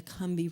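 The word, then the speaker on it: Combahee: river down there the kumbi river it's spelled kombahi c-o-m-b-a-h-e-e but down there they slur it and call it the kambi river and then after she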